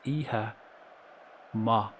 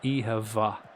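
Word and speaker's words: oíche mhaith: t h is pronounced e-ha ma or it can be pronounced ehavva. It can be a v. The mh can make a v sound or an m m sound depends.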